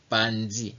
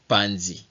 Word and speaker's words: panzi: Panzi. You don't pronounce this M word. Panzi. You don't pronounce M. Just panzi.